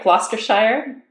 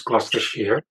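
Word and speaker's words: Gloucestershire: recovery College of GL am I saying it right gler Shire close gler Shear excellent for mental health recovery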